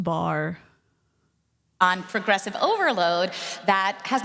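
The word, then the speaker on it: barre: impact variable intensity hit training program based it's pronounced bar on Progressive overload that has nothing to do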